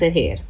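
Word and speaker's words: heir: Sound of this word is air. Here h is silent.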